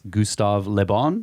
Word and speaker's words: Gustave Le Bon: That's Gustave Le Bon.